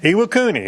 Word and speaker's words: Iwakuni: Is that a Wakuni, Japan? Iwakuni.